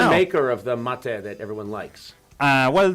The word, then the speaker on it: mate: say it I say matcha mate matate mate like mate like the the finishing like M mat mat mate mate exactly yes that was that